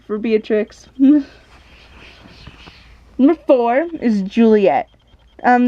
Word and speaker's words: Beatrix: you know heard beatrix i thought beatrix and be a triss were pronounced the same so i thought beatrice was actually pronounced to be a trix so yeah before i